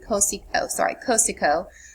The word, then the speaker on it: Cosiogo: Often artists like Cosiogo, this is the Eastern Shoshone pronunciation, Cosico, who was also known